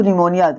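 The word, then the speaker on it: pneumonia: देखो निमोनिया पी के बाद में एन आ रहा है तो पी के बाद में हमने बताया अगर एन आता है एस आता है तो पी साइलेंट हो जाता है तो क्या हो जाएगा निमोनिया हो जाएगा पी साइलेंट हो जाएगा निमोनिया माने होता है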